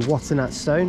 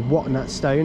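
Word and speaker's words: Watton-at-Stone: and we're going to be taking this to water stone or what stone as Alex demands it be pronounced 717 013 this might be like the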